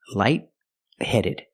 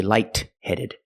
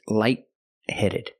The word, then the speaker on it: light-headed: The T in light is a stop T, light-headed. You put the tongue up to stop the air, but you don't release the T. You don't say light-headed. It's light-headed. Link the sounds.